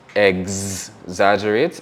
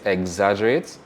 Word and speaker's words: exaggerate: So our GS version will be exaggerate, exaggerate.